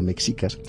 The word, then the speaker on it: mexicas: de nuestros días los aztecas o más exactamente los mexicas es que es como se tiene que pronunciar mexicas dominan todo el área